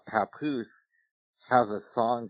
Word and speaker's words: Papoose: So his name is pronounced Papoose? Yes. You know what that sounds like? You know there's a place in Oregon called Scappoose.